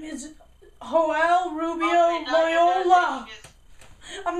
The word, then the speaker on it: Joel: Are you guys aware that it's Joel? It's Joel. I actually... That's how you say it in Spanish.